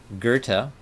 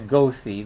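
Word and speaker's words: Goethe: mid 1700s and mid-1800s his name is spelt g-o-e-t-h-e and it's kind of funny to say that's actually kind of fun to say gerta and you'll be hearing it so why don't we all get used to it by repeating it together a few times goathy the way it's spelled but uh and the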